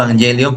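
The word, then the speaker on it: euangelion: Bueno, se pronuncia EU o se escribe Eu v Evangelion, pero se pronuncia evangelion.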